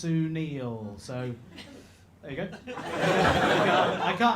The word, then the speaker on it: Sunil: My name's Sunil," and he just went, "No." Absolutely not how you do that. It's actually pronounced Sunil.